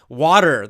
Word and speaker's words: water: Water, the word water, right? I'm drinking water right now. We pronounce it with a D, even though it's spelled with a T.